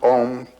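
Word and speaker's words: Aum: It's written A-U-M. You start in the back of the mouth, ah, and then oo, you fill the mouth, and closes at the mouth. And when you pronounce this properly, all vowel sounds are in that pronunciation.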